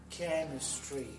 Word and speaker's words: chemistry: Chemistry. Это буквосочетание CH, да? Ну, читается. H – это глухая H. Это chemistry.